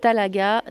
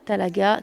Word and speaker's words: Talaga: s'écrit h de N a plus loin donc talaga talaga comme ça se prononce t a l a g vous êtes